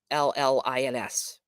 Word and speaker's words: gibberellins: And then a special thing that they have is a plant hormone that's called a gibberellins, and that is pronounced, spelled Gibberellins, gibberellins, and they're found in the buds of the flowers, the germinating seeds, and the young tissues.